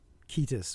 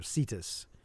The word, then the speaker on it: Cetus: Whereas there is a sea monster in the Perseus story, but it's Cetus or Cetus. Cetus would be the Greek, and then the Romanized would be spelled with a C, which is just not a specific sea monster.